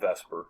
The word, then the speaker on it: VSEPR: valence shell electron pair repulsion theory, also known as Vesper. I call it Vesper, but if you're going to pronounce it right, Vesper.